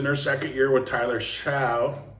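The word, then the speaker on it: Shough: It's in their second year with Tyler Shaw, or Shug, he says now. He wants his name pronounced Shug, I think.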